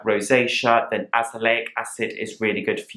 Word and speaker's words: azelaic: on the benefits of azelaic acid which I will link up above just be warned I call it Azealia acid throughout the video which is not how you pronounce it glycolic acid is a